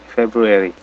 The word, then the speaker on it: February: Jadi ada eri di sini ya. February.